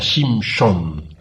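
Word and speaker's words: שמשון: que nació con sansón que en hebreo se pronuncia sin son y qué significa el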